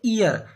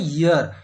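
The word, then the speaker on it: year: वाई ई ए आर का सही उच्चारण होता है ईयर।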